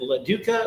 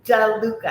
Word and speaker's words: DeLuca: Is it LaDuca or DeLuca? It's Johnny DeLuca.